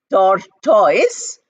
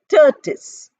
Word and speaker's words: tortoise: The spelling is different from the pronunciation. We don't say tortoise, but we say tortoise.